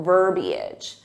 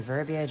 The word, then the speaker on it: verbiage: is another one where native speakers commonly add an extra syllable when it's not needed and technically it's incorrect